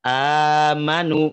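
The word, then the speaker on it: آمنوا: Mad badal itu yang ada pada lafaz amanu, misalkan gitu ya. Nah, itu boleh dibaca 3 kaidah, 3 cara baca di Imam Warosh. Boleh dibaca 2 harokat.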